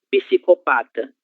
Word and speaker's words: psicopata: Letra P, no começo de palavra, antecedida. Antecedida não. Antecedida. Antes de uma consoante, ela deve ser pronunciada, ok? Então, psi, psicopata, psicólogo, psiquiatra, e assim sucessivamente, ok?